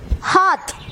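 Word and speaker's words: हाथ: இப்போ சொல்லும்போது ஹாத் அப்படின்னு சொல்லணும். ஹாத்.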